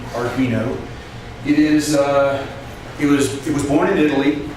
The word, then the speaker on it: Arduino: So I wanted to make sure that it had the right pronunciation, Arduino.